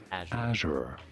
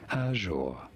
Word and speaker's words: Azure: Azure in American English versus Azure in British English.